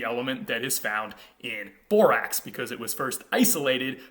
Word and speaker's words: borax: medieval latin word borax borox which we would today pronounce borax and this was probably